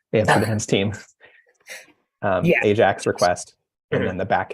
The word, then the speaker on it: Ajax: an a an a I always want to say I act because that's the that's how you were pronounce it in Dutch and that's the answer um yeah Ajax request and then the